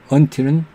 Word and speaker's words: until: 외로 T가 생략되지 않은 경우는 until, 자음과 자음 N 다음에 T가 오면 생략한다고 그랬는데 until은 n 다음에 하는데도 생략 안 하죠.